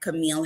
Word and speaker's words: Cameal: I also have a website, Camille. And you might know my notice my name is spelled a little different.